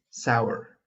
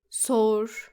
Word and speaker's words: sour: Our next word is sour, sometimes pronounced Sour. when it should actually be sour.